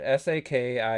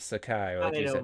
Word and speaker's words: Saki: or saki whatever it s a k i a yeah it's whatever man it's a character that exists they literally say his name a hundred times in the game it's not Sakai it's saki I I don't I